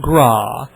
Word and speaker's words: Graae: Graae, which is pronounced Graae. Jason Graae, welcome to the Daverhood.